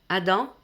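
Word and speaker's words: אדם: Adam, c'est la prononciation plus ou moins en hébreu, ça correspond à la signification de être humain, donc pas homme.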